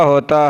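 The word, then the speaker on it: ہ: हा is pronounced from the bottom part of the throat.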